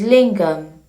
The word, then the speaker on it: Linga: And as the basis of the jangam, there is lingam. Linga is a word of 2 syllables. Lin and Gha.